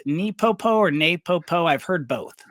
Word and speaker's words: NePoPo: And for those that are not familiar with the And is it pronounced Nepopo or Napopo? I've heard both. Napo. Napopo.